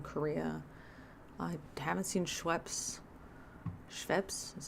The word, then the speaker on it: Schweppes: Lacroix once in Korea I haven't seen Schweppes Schweppes is how you pronounce it but all of these like other